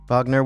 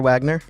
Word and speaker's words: Wagner: for the name sake vogner Wagner depending on where you're from that's how you pronounce it okay well Big C